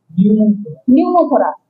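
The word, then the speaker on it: pneumothorax: হ্যাঁ, নিউমোথোরাক্স, নিউমো কি উচ্চারণ হবে না, নিউমোথোরাক্স। ঠিক আছে, আর হেমো মানে রক্ত।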